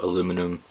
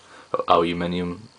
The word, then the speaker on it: aluminium: Apple are going with the whole aluminum aluminium that's the proper way to say it um the aluminium